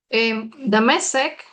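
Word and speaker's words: דמשק: Mungkin nggak saya bacanya di mana ya? Mau pakai whiteboard? Ya whiteboard kali ya. Oke. Oke. So, Damasek, oke, coba saya bikin.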